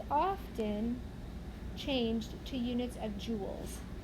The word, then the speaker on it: joules: changed to units of joules like pronounced like the Royal jewels the abbreviation for joules